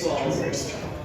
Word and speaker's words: Qualls: I knew you mispronounced my name, but that's okay. My name is DJ Qualls, and for those who don't know me, I am a famous homosexual.